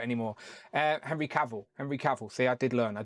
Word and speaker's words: Cavill: Henry Caval.